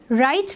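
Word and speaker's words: write: राइट में हम इसको बोलते वक्त आर से बोलना स्टार्ट करते हैं, डब्ल्यू को हम प्रोनाउंस नहीं करते। The birds are flying high in द sky. High में हम जी को प्रोनाउंस नहीं करते हैं, इट इज़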